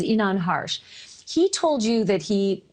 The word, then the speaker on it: Inan Harsh: neighbor that you had a chance to interview, I believe it's the pronunciation of his name is Inan Harsh.